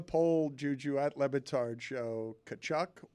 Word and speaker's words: Tkachuk: Put it on the poll, Juju, at LeBatard Show, Tkachuk or Tkachuk, because that's a famous hockey name, and I've been pronouncing it wrong my entire life. I've always thought it's Tkachuk.